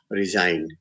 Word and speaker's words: resigned: word like let's say resigned a design from the post so g there is silent or i walk three